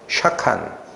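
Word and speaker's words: שָׁכַן: 그 발음을 잘 유의해서 들으세요. 샤칸.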